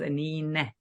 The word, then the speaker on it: Anine: My name is a bit unique, Anine, and pronounced Anine.